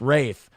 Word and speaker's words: Ralph: The first name Ralph uses the Old English pronunciation Rafe, and the last name Fiennes is you know, Fiennes is pronounced Fiennes.